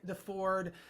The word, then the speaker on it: Deford: my good friend Deford. And how do you remember how to pronounce his last name? It's not the Chevy, it's the Ford, you know, it's like that's how you remember.